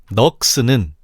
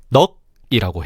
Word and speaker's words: 넋: 자음군 기역 시옷이 쓰인 넋은 잠깐. 원래 이렇게 발음하면 안 되는데 자음군 2개가 쓰였음을 설명하려고 일부러 확인차 발음하는 거니까 헷갈리지 마. 넋은 첫째가 상속을 받아서 넉이라고 해.